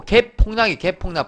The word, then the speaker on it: 갭 폭락: 욕이 아니고 갭 폭락 발음 잘 들으세요.